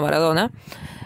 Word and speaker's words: Maradona: Because one of our main players, which is Diego Armando Maradona, or if you want me to pronounce it as I pronounce it, Diego Armando Maradona, was one of the best football or soccer,